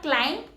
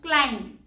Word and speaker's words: climb: B is silent here. So it's not climb, it's climb.